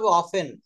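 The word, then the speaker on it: often: বলব না উচ্চারণটা বলতে অফেন অফেন হ্যা অফার দন্তন এখানে টি কিন্তু সাইলেন্ট লেটার এটা আপনি দেখবেন এই শব্দটা আমি জানি অপেন কিন্তু কালকে আমি একটা ভিডিও দেখছিলাম ওখানেও দেখি ওরা অফটেন উচ্চারণ করে না এটা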